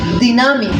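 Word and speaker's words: dynamis: Cuando hablamos de poder, estamos hablando de algo que en la Biblia se traduce la palabra poder de un vocablo griego que se pronuncia dinamis.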